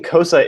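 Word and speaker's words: Xhosa: teach you any closer pronouncing cosa is very very hard there is you click with further sounds XZ and V and so it's not co sides cosine and I still can't do it correctly but what was your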